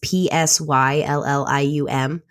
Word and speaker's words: psyllium: like psyllium is good psyllium is started with a P it's P sy ll I um it's pronounced psyllium so that one so